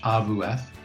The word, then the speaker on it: AWF: school of physical education the polish version is awf is their abbreviation or in polish abu f is how we pronounce it and so if you